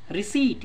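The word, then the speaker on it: receipt: रिसीट, इसमें P silent होता है, स प्रोनाउंसिएशन हुआ इस सी का तो ई आई लगा, रिसीट का हिंदी मीनिंग रसीद होता है।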